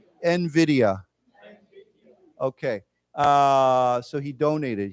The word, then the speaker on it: Nvidia: but it's we say it Nvidia so it's pronounced that way Nvidia why don't we say it together Nvidia Nvidia okay uh so he donated he and okay